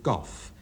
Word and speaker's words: golf: John Berman pronounces this game gooff feeling that the L is entirely superfluous and I agree with our best poet.